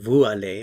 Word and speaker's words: vous allez: Normally, I don't pronounce the S in vous if I say it by itself. Now, in this case, a vowel sound follows. When a vowel sound follows, then generally consonants are pronounced. So instead of saying vous allez, I would say vous allez, and the sound is like the English Z here, z.